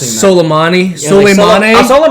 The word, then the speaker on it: Soleimani: Airport and it killed a general named Psalms I was like good luck pronounced Soleimani silly money that's all